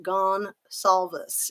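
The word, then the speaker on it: Goncalves: truth to every joke I think gone Calvis is pronounced gone solves yes and I like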